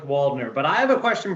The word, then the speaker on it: Waldner: We don't go that German. We just go with Waldner.